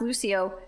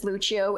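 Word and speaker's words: Lúcio: somebody was like said Lucho and so I was like uh yeah I think his name is actually pronounce Lucio and they're like uh no dumbass his name is Lucho it's Brazilian and then it just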